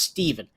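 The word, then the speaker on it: Stephen: I want to start out by saying I know it's pronounced Steven, but PH does not make a V sound. It's Stefan.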